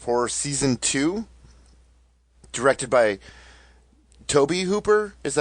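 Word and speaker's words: Tobe Hooper: the Masters of Horror Season Two directed by Toby Hooper is that how you pronounce it guys yes I mispronounced that for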